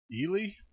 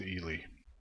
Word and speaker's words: Ely: calling Ellie I looked up to how to pronounce the name nan it looks like it is actually e Li so I'm gonna go with Ellie and you see here one thing that you're